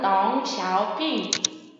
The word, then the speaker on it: 덩샤오핑: 등소평, 중국어로는 덩샤오핑.